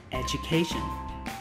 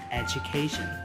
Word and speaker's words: education: Tương tự các bạn cũng nhấn trọng âm vào âm A. Âm tiết thứ 3, education, education.